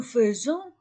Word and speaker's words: faisons: il fait nous faisons j'écris a I et je prononce e nous faisons on s vous faites